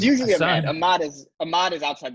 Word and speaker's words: Ahmad: i went i apologize yeah uh it's usually a mod is a mod is outside the box as